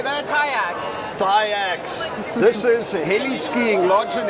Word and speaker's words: TYAX: TYAX.